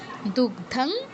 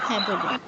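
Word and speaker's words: দুগ্ধং: গোপালন্দ Perth Sudhir ভোগতা দুগধ গীতামৃত এই হল আমাদের চার নম্বর বসলো উচ্চারণ নিয়ে কারো সমস্যা থাকলে বলুন হয়তো আমরা সুর করে পড়ব আচ্ছা দুগধ দুগধাং দুগধাং নয় দুগধং আর গীতামৃত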